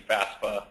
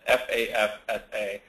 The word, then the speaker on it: FAFSA: which is the FAFSA, often mispronounced as the FAFSA or something of that nature, but it is the FAFSA, the Free Application for Federal Student Aid.